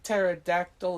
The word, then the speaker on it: pterodactyl: Do you know why the P in pterodactyl is silent?